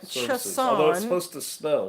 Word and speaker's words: Chason: my will will be chason as when you play chess on a chessboard i've seen that name